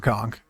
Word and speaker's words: conch: That was the statement, not no Murlocs, that's sad for Conk. No Murlocs, that's good for Conk. All hail the magic conch. I grew up on SpongeBob. I still pronounce it conch.